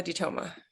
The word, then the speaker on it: DeToma: I'm asking everybody so what's your name Olivia dtoa is my name nice so you pronounce it dto yeah D okay good I